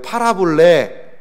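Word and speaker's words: παραβολή: 파라볼레. 뭘 좀 팔을까요? 좀 많이 팔아볼래. 이것도 팔아보고 저것도 팔아보고 그런 의미가 아니고 발음은 유사한데 이제 파라볼레라는 뜻이 있어요.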